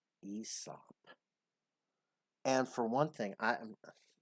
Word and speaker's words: Aesop: The A is silent, and you just pronounce it Aesop. Aesop.